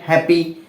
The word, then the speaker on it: হ্যাপি: ফলা আকার হ্যাঁ হ্যাঁ যখন কোন শব্দের শুরুতে জ ফলা বা জ ফলা আকার থাকে তখন এর উচ্চারণটা এ এর মত হয় সেই হিসাবে হ জ